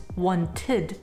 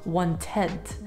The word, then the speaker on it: wanted: to adjectives for example wanted is pronounced one tid and not one tenth and ended and not